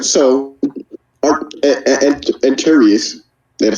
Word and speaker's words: Anterious: So Antarius, did I say it right? Yeah. Antarius.